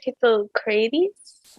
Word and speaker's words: Hippocrates: Hippocrates?